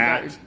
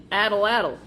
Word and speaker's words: atlatl: It's a tool that uses leverage to achieve greater velocity and Atlatl. addle-addle.